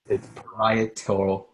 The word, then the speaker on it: parietal: It's parietal lobe. Okay. Yeah. All right. Good. I'll not be able to pronounce that still.